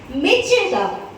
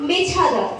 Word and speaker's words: Mecheda: So you have to say, my home is at Mecheda, not Mechada. Sit down.